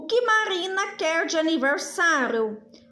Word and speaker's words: Marina: Marina, quando eu falo Marina, qual som é mais forte? Ó, vamos chamar Marina.